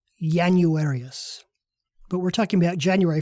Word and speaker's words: Januarius: This means that the first of our 2 new months was pronounced as if it started with the letter Y, Januarius.